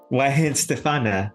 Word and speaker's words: Weihenstephaner: why stf very straight forward on you know why stefana why there was a CH in there right